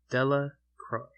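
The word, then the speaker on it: Delacroix: Bobby and Harry Jones and Dicky Delroy, the villagers pronounced this name Dela Croy, eventually made a great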